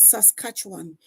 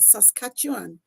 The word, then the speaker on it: Saskatchewan: Alberta, British Columbia, Manitoba, New Brunswick, Nova Scotia, New Finland and Labrador, Ontario, Prince Edward Island, Cubec and Saskatchewan.